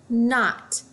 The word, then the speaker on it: knot: I notice this KN I know that when I have K and the K is silent all I hear is that this word is not like when you get